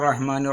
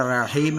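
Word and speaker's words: الرَّحِيمِ: തിലാവ എന്ന കിതാബിൽ കാണുന്നുണ്ട് അപ്പൊ അവിടെ റഹീം എന്നുള്ള ഭാഗത്ത് നമുക്ക് മൂന്ന് അലിഫിന്റെ ഖദർ അല്ലെങ്കിൽ മൂന്നര അലിഫിന്റെ ഖദർ നീട്ടൽ ജായിസാണ് അൽഹംദുലില്ലാഹി റബ്ബിൽ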